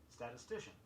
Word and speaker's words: statistician: Be sure you get in all the syllables in the sounds. Statistics, S-T-A-T-I-S-T-I-C-S, and statistician, S-T-A-T-I-S-T-I-C-I-A-N.